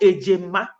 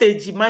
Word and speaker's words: Ejema: Very old coin, Ego Ayolo, Ego Ndi Gbogbo, called Ejema. Not Ejima. Ejima is twins, but Ejema is the name. Ejema. Ejema. That's the correct pronunciation.